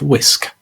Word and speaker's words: wsk: So the WSK is the name of the executable. It's pronounced whisk.